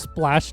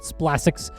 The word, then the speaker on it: Splasx: to by Splash and it is pronounced Splash, not Splassics, from SPX Performance who said, "Hey, I saw your video.